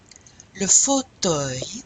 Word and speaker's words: fauteuil: You have la chaise, la table, le fauteuil. This is in your vocabulary. Let's repeat this. Le fauteuil. So you don't pronounce the L.